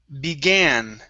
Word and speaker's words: began: Now this word here, okay, is pronounced began.